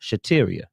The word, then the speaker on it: Shateria: You pronounce that Shateria.